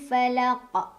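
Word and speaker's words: فلق: jelas atau diilhamkan Hai birabbil Falaq ada qolqolah kubro karena ada huruf Qalqalah yaitu coffee yang sukunnya karena diberhentikannya karena waqaf jadi awalnya tidak sukun karena kita berhenti jadi sukun jadilah dibacanya dipantulkan dan pantulannya lebih besar lebih berkumandang oh my car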